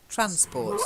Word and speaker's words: transport: stressed transport it's just transport stress is on the first syllable transport that's it that's it